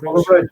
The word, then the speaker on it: Bonar Bridge: Bonar Bridge, yeah, okay.